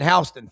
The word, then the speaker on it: Houston: They pronounce it Houston for whatever reason over there.